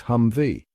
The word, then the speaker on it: Humvee: a hmmv that thankfully they simplified to be pronounced as hum V as the name implies it was this massively